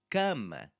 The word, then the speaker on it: cama: It's the S after it in casa, and cama is forcing us to just slightly change how that sound is going to be produced.